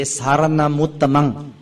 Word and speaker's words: saranamuttamang: Usually we say saranamuttamang. You join two words together, saranamuttamang. It sounds much better.